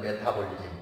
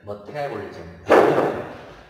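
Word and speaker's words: metabolism: 여기가 액센트가 있어요. 그래서 메타볼리즘 이렇게 발음을 해요. 그냥 우리말로 할 때는 메타볼리즘 하지만 정확하게 하면 메타볼리즘.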